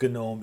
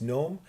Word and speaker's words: GNOME: if you choose gnome which is how you say that it's not gnome it's gnome or kde kali will